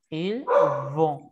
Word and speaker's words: vont: Et la segunda, ils vont. Ils vont. ¿Acá? La primera es una F como tal, la segunda es una B labial.